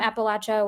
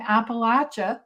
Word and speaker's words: Appalachia: Um so a long time and uh as someone who isn't from Appalachia where Demon lives, a book helped me see